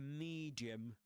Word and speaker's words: medium: A medium. This medium, the first syllable, the vowel in the first syllable of medium rhymes with um see in for example the the sentence he could see for miles.